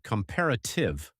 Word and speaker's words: comparative: It's pronounced comparative with the stress on the second syllable and superlative.